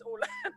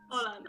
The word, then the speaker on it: Åland: A Belgian guy whose parent is from Norway, like, how do you pronounce that stupid letter? And he was like, it's an O, so I'm assuming it's Åland. Åland.